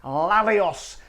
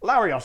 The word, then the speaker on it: Larios: friends here we go lavios gin that i don't know i pronounced it like that larios i was trying to roll the r in the middle but failed larry ostgen the cheapest